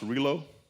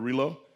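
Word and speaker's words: Rillieux: Norbert uh I think that name is pronounced Rio. Norbert Relo.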